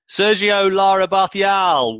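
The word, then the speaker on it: Sergio Lara Barcial: need in a meantime on with today's show sergio lara bothy al welcome to the show well done there with your pronunciation thank you so much it's a real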